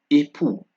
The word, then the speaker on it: époux: X at the end of words also is not pronounced. So we have de as an example, pris, époux.